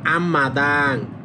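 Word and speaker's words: 앞마당: তাহলে এটার উচ্চারণ হবে আম্মাদাং।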